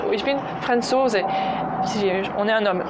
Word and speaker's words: Franzose: Avec bien d'ailleurs l'accentuation, vous avez remarqué, c'est Franzose, Französin. L'accentuation est sur la deuxième syllabe et pas Franzose.